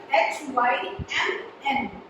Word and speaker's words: hymn: Please make sure that you write it H-Y-M-N. Now why it is called hymn? Because N is silent.